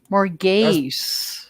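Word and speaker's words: Morgase: Why more Morgas? gas? More gaze. If you have an Gaze. A-S-E, it's an ace. Margas would be more like G-A-S-S.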